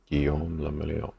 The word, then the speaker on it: Guillaume le Million: If it doesn't rhyme, you're not pronouncing it right. Guillaume le Million.